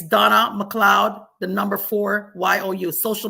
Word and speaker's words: McLeod: in my name but it's actually spelled m CLE e o d m CLE e o d it's pronounced McLoud but MC L EOD